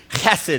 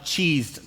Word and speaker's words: Chesed: It's a Hebrew word, and it's actually Chesed is how you say it, but they spell that Chesed. And when we started the church, we tried that spelling, but everybody started calling it Cheesed Church.